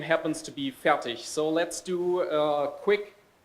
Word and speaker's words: Fertig: Because it's Fertig and not Fertig. It's a hard G at the end.